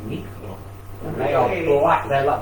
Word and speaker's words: Negro: You go out to Croatia now, they've got biscuits called Nikro.